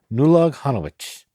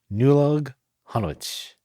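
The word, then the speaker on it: Nollaig Shona Duit: Here's how you say it. So this is a way you'd say it to someone, right? To an individual person. It's Nulag Hanowich. Nulag Hanowich. Nulag Hanowich.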